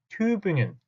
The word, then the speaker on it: Tübingen: 여러분들은 이제부터는 Göttingen 하지 마시고 발음도 정확하게 Göttingen 하고 읽어주시고 Tübingen, Göttingen 제발 그렇게 읽어주셨으면 좋겠습니다.